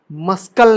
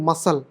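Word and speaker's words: muscle: ऑबसीन fluorescent obsess passionate मस्कल नहीं मसल समझ रहे हो ना इन वर्ड्स में कभी भी गलत शलत मत पढ़ देना कि मस्कल फेकने अ क्या लिखा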